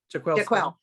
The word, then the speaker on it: Jaquel: Jaquel.